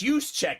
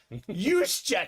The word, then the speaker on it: Juszczyk: I was like, it's Juszczyk. He's like, what? Juszczyk.